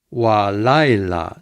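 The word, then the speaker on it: וָלַיְלָה: Before an accented syllable, sometimes it becomes wa with kametz. Wa laila. Notice the accent is here.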